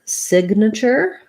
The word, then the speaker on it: signature: So we have the word signature. Signature. First syllable stress, lacks if vowel. The G says G, sig. And then we have na. This A is a schwa. Sounds like na.